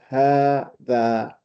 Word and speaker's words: هذا: But it is pronounced as 4 letters. It is pronounced as if there is another alif after the ha. So we don't say هذا, we say هذا with the same heaviness of the alif.